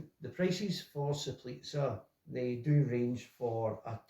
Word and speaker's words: Soplica: It is pronounced Soplica.